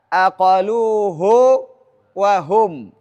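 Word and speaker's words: عَقَلُوهُ وَهُمْ: Nah, maka di sini tidak dibaca kondisi silah. Harus dibaca aqaluhu wahum.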